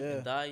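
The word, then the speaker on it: Ndiaye: But they've signed that in Day. Is that how you pronounce his name? Ndai, yeah.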